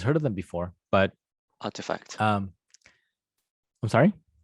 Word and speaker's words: RTFKT: of them before but artifact um i'm sorry it's pronounced artifact that's right that's right